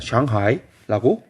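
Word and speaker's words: 上海: B, B는 상하이입니다. 상해라고 읽고요. 얘를 중국어로 읽으면 상하이라고 읽어요. C는 난징입니다.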